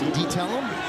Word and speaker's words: DiTella: Said it's DiTella. Made sure I knew how to say his last name.